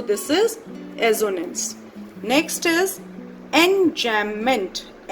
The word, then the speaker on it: enjambment: Next is enjambment. B is silent. Enjambment, it means when same sentence continues.